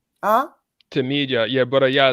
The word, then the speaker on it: Tmeedyah: And Brother Yah, do you mind if I call you Brother Yah, or how do I pronounce it properly? Tmeedyah. Huh? Tmeedyah.